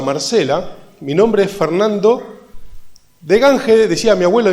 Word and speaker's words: Degange: Mi nombre es Fernando de Gange, decía mi abuelo y mi papá. De Gange es como se pronuncia realmente, por lo cual yo digo de Gange, que es como decía mi papá.